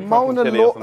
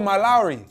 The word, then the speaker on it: Malawi: It's like Mona Lowy. How do you pronounce this? Mona Lowy? I don't know. I'm not from. Oh, Malawi. Malawi, yeah. Get out, man.